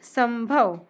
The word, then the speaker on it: संभव: यहां हमने स के साथ म पढ़ा। ऐसा क्यों? क्योंकि जब यहां पे आया था त वर्ग के अंतर्गत न तो हमने पढ़ा न। त थ, द, ध न जो फिफ्थ लेटर था वो न था इसलिए यहां इसे न पढ़ा गया। पर यहां पे भ आ रहा है। भ का नेक्स्ट लेटर आता है म।